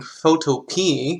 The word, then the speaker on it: Photopea: get right to it I'm using photo P because that's how the owner the creator of it pronounces it photo penis at a